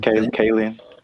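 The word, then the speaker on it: Kaling: know how to say her last name, Kayen.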